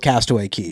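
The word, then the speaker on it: Castaway Cay: Most people go with Castaway Key, but it's spelled Cay, right?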